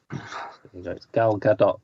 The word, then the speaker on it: Gal Gadot: should do a bit of Gap filling anyway Gal Gadot that's how you pronounce their name why what's she done Wonder